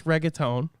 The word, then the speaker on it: reggaeton: this it i think it's reggaeton okay mm-hmm you said it right yeah well